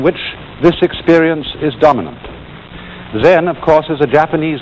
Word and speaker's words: Zen: this experience is dominant then of course is a japanese word and it's spelled cem and that is the japanese way of pronouncing the chinese word chan and this in turn